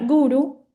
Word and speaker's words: guru: dijimos, por ejemplo, como les dije antes, en la palabra guru siempre acentuamos en la primera porque es una de